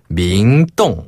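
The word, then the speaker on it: 明洞: 밍동. 맞아요. 밍동. 밍동. 네. 이렇게 발음할 수 있습니다.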